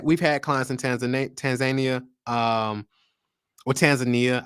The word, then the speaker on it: Tanzania: had clients in tanzan Tanzania um or Tanzania I was told how to say it the right way it's Tanzania uh we've had clients